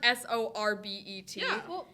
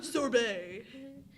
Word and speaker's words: sorbet: different words no it's it's spelled sorber but it's sherbet like the word s o r b e t pronounce that sherbet yeah proun that sherbet there's no h so sorbet I say sorbet I we that's weird